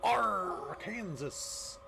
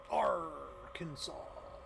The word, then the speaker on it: Arkansas: Arr, Kansas. Oh my god. Arr. We all want to be pirates here in Arkansas. Arkansas. It's like, that's not how it's spelled.